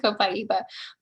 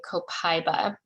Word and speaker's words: copaiba: of respecting cultures to say copaiba but it's also not wrong if you say copaiba uh copaiba often sounds a little bit more of the like you know american or accepted european you know pronunciation and um either way